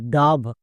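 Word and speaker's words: dove: তাহলে ডি এর জন্য ডো ও এর জন্য আকার ভি ভি এর জন্য ভো। এবার একসঙ্গে উচ্চারণ করো। ডি ওভি ডাভ শেষের ই সাইলেন্ট মনে থাকবে।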